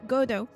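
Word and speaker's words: Godot: Pronounce it how you want. It has no official way. Though most English speaker folk tends to say Godo. I like Godo.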